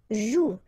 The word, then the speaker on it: joue: combination of the vowel O and U, and together, you know that they produce the sound OU, okay? And it's exactly the same rule, so you've got this after, but then clearly you don't pronounce it. Okay, elle joue.